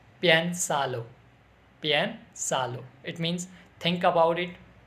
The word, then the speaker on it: Piénsalo: Otra frase y palabra de española es que piénsalo. Piénsalo.